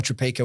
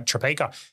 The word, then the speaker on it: Tropeaka: people to find either yourself um or or tropica where's the best place people can find you